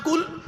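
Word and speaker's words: قل: নিজেই বলছেন কি বলে এই উচ্চারণটা ঠিক করুন কুল নয় কুল কুল দুটো কুলের মধ্যে পার্থক্য আছে কুল মানে বলো কুল মানে গেল বা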